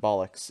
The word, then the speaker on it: Ballox: And the name is not spelled the way the actual word bollocks is. The way it's spelled is Ballox. That's what my game's name's going to be, is Bollocks.